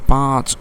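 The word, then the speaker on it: پانچ: জবাব উত্তর গোসল মে পাঁচ সুন্নাতে হে গোসলে গোসলের মাঝে পাঁচটি সুন্নাত রয়েছে গোসল মে পাঁচ উচ্চারণটা ভালো করে দেখি পাঁচ নুনটা নুনে গুন্না হবে পাঁচ মানে পাঁচটি সুন্নাতি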